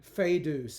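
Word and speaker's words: foedus: which means wild um fedus is how we would pronounce this this being a DI thong here the OE so fedus means foul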